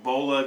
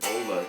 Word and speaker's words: Vola: But it's not pronounced Voila, I don't think. I think it's pronounced Vola. But Vola, yeah.